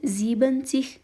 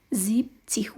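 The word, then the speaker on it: siebzig: او همدارنګه په اویاوو کې هم همداسې یوه خبره ده چې ان ورڅخه لرې کوو، یوازې زیب تلفظ کوو، یعنی زیبنتیغ نه وایو، زیبتیغ وایو.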